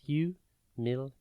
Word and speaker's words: humiliate: It is pronounced humiliate and spelt Humiliate. Think hum, illy, and then ate.